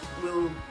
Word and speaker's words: gb: It's written GB. It's pronounced we.